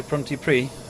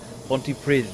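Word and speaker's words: Pontypridd: Can I say Pronti Pri? Brith. Ponty Prith, I think, isn't it? Or something like that. The two D's pronounced sort of a slightly a DTH sort of sound.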